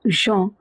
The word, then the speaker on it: gens: Les gens, again, en is pronounced as en. So, gens, and it means people.